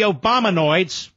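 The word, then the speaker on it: Obamanoids: my bit here how the Obama noids rhymes with hemorrhoids how the Obama noids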